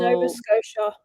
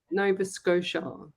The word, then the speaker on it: Nova Scotia: I go, "Well, Nova Scotia. Nova Scotia," because they say that the T is a silent, isn't it, Ellie?